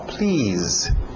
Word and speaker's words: please: Som de Z aí no final. Please.